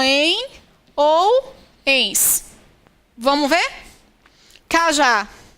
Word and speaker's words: Cajá: Cajá. Qual é a sílaba que mais se prolonga? Cajá. É o já.